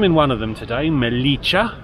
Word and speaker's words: Melilla: one of them today melicha and I'm reliably informed that's how it's pronounced the other being filter